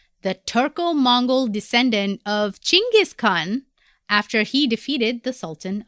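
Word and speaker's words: Chinggis Khan: world Pia who is jingus Khan many might know him as Jenis Khan or genis Khan but his real name is chingis Khan It's not k h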